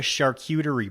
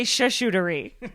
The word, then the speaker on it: charcuterie: what is it called it's called a charcuterie board i like to say shootery sharp cutery yeah a little bit